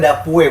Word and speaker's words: Dapue: Ternyata Dapue bacanya. Iya. Harus dibaca E-nya. Ya, Bang Jolan ya. Dapue.